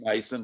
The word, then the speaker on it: Masson: and and masson um probably called mason it's just that it's spelt mess on i keep i don't know if it's son or mason it is mason because i know jeff